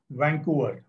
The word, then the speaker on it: Vancouver: Spelling देख लो अच्छे से और प्रोनाउंसिएशन देख लो मैं कैसे कर रहा हूं. Port of वैंकूवर.